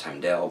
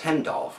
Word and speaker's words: Heimdall: I always thought his name was Heimdall, but it's pronounced Heimdall, which I recently learned from Shardimus Prime watching his review of this figure here.